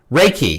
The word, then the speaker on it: Reiki: Is that how you pronounce that? Or Reiki? Reiki.